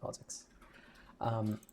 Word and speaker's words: POSIX: So it's pronounced POSIX.